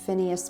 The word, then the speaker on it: Phineas: Okay, so now we are going into the Phineas Page room. Is that how you pronounce that?